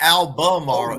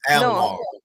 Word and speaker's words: Albemarle: And you gotta say it like that too. It's not Albemarle, it's Albemarle. Right. They skip the whole middle.